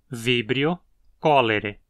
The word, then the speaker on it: Vibrio cholerae: As duas palavras se qualificam para serem proparoxítonas. Vibrio cholerae.